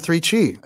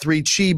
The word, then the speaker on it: 3Chi: I don't know if you've heard of 3Chi, listeners, but it's spelled 3CHI, the number 3CHI. Just think of it like a really good pizza, 3Chi's.